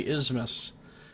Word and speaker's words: isthmus: I'm just gonna say Isthmus. Pretend there's not even a TH there.